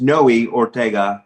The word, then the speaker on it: Noe Ortega: start on if it's okay with the brief pronunciation of my name which is noe ortega just uh it's one of those three letter